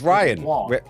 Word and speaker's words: Rian: no right even him it's not spelled like Brian it's like no it's Ryan it's Ryan with rhyme with an R yeah but it's not